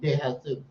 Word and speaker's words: De Jesus: That's De Jesus. De Jesus, what's going on, my friend? Oh, you said, is that how you pronounce that? De Jesus. Oh, but it looks like this Jesus. No, it's De Jesus.